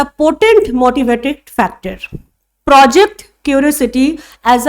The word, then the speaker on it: pot: इसमें देखो root word का है, दैट इज POT, पोट। इसको पॉट प्रोनाउंस ना करके पोट प्रोनाउंस करना, और ये पोट का मतलब होता है पावर।